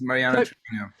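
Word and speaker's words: Mariana Treviño: I think you pronounce it Mariana Trevino. Is that correct? Yes, Mariana Trevino.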